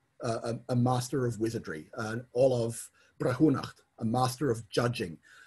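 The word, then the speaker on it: ollamh: In fact, at some point I want to register a alternate title for master of the laurel as Olav, O-L-L-A-V-H, which is the modern Irish word for a professor.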